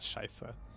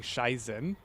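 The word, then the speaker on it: Scheiße: I actually forgot scheisse Americans for a longest time had this really like annoying habit of saying schiessen for like for reasons I've never been able to pinpoint like where that mispronunciation came from let's see what else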